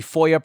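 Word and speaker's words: FOIA: Act quite a bit I'll probably use the Foya pronunciation so if I mention Foya I am talking about the Freedom of Information Act so back to these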